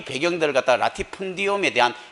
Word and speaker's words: latifundium: 라티푼디움. 그게 이제 영어로 하면 레리펀디움이라고 하죠. 또 근데 발음은 똑같이 씁니다.